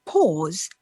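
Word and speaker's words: paws: and in that case the pause is spelt p a w s as in the pause of a duck well if you missed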